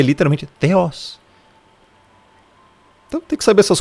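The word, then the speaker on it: θεός: Theos está aqui, é pronunciado teos mesmo.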